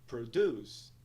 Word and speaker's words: produce: sílaba, que indica que a segunda sílaba ela é mais alongada e pronunciada em um tom mais alto do que a primeira. A pronúncia da palavra é, então, produce.